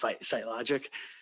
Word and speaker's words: Sitelogic: government solutions with sitelogic i know it's spelled funny uh it's pronounced sitelogic we're proud sponsors of